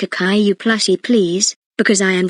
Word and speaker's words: Caillou: And you pronounced Caillou wrong. It's not Kaou, it's Caillou.